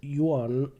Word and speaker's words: yuan: will do one more the Chinese yuan is the currency here that word is one syllable I hear people go you are or you are and that's kind of painful I'm not sure how